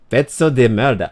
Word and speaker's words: pezzo di merda: Pezzo di merda. There's no T in it. It's just pezzo.